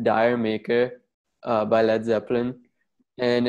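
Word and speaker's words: D'yer Mak'er: actual thing uh it's dire maker uh by led zeppelin and it's supposed to sound similar to jamaica um and this song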